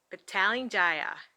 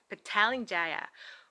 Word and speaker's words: Petaling Jaya: pronounce this word so um they said it's petaling jaya this is how they pronounce it petaling jaya which is so so different from babbling they